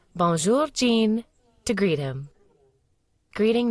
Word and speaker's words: bonjour: Pronounce it like bonjour. Imagine you're saying bon, but with a soft N, and finish with jour.